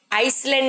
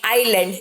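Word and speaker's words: island: आइसलैंड नहीं, आइलैंड, एस is silent, ठीक है।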